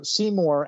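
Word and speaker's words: Seemore: So Seymour accidentally, because Raven casts a spell and hits him in the butt.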